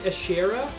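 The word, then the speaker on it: Ashera: regardless how about this this game does not pronounce it Asher actually they pronounce it AER which I don't like quite as much anyway aera is a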